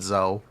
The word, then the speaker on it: Zo: We call it Zio, we call it Zo. No dash attack set. It is a dash attack and additional attack set. It does work for both. Pronounce Zo like Zoo.